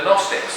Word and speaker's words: Gnostics: And the Gnostics, that's one of these words where the G is silent, Gnosticism, they go, God can't touch matter.